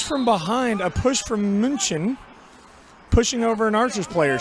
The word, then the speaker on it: München: Munchen. Because I almost said München, but that wouldn't have been right.